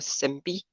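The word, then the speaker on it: SymPy: So we have to import one library called as SMPY, SIMPY. Okay, you can pronounce it like that. If you are from India, you can pronounce it like that only.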